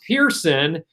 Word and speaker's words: Pearson: Although it's pronounced Pearson, she does have the word pear at the beginning of her name.